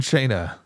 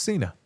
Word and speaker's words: Cena: Heels Cena looks like an angry postman. Thank you. Warm Corin Bass Beerus says you John Shaina, you have a big mouth.